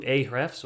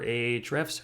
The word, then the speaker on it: Ahrefs: this topic so we're going to go into ahrefs or ahrefs however you want to pronounce it and we're going to be doing